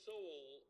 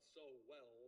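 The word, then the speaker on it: Sowell: he he's he graduated from Harvard University Thomas soul is and they pronounced so not so well but Soul he started off Life as a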